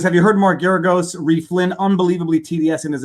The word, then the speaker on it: Mark Geragos: my advertising pitch for marcaragos if you want to lose hire marcaragos well there's nobody loses like he does i think you're mispronouncing his name also i think it's mark that may be deliberate